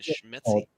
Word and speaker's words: Szymanski: So we're still waiting on Captain how do you pronounce his name? Schmetzi? Captain Szymanski. Szymanski. Okay.